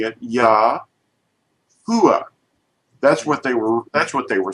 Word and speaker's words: Yahuah: And they were pronouncing it Yah-U-ah. That's what they were saying. Not Yahweh, but Yah-U-ah.